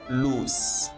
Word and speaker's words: loose: This is lose with a z sound at the end, and versus loose with s at the end.